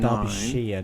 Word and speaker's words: Derbyshire: Derbyshire, not Shire. It's Oh, pronounced excuse Shire.